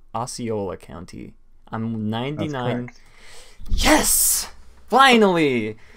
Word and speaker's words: Osceola: bought more land in, I think this is pronounced Osceola County. I'm 99. Yes! Finally! Okay, Disney has bought more land in Osceola County, which is very interesting.